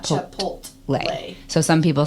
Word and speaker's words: Chipotle: owned by McDonald's, I used to call it Chipotle. Oh, Chip. That's a whole new one because of what the effects are. Yeah. Uh, how do you say that one? Chipotle.